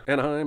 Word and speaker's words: Anaheim: Also, sorry movie, despite the rhyme you learned, Anaheim is actually spelled with the E before the I, even though it's not pronounced like neighbor or way.